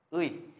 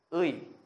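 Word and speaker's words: ㅢ: Rồi, cũng giống như là trong tiếng Việt, như các bạn phát âm nhá, thì tiếng Hàn cũng sẽ phát âm là Ươi nhá. Ươi.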